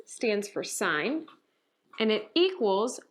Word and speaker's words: sine: now they have abbreviations sine is written as sin really but that's pronounced sine with a long i cosine is just written